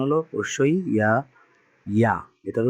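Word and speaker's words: ياء: এটার উচ্চারণটা হলো হামজা, আর এটা উচ্চারণ হলো অবশ্যই ইয়া, ইয়া। এটার উচ্চারণটা কি, ইয়া।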